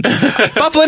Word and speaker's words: Byfuglien: And they're like, Byfuglien. Well, that's not how you pronounce it. Yes, it is, or we'll trade you to Edmonton. Byfuglien it is.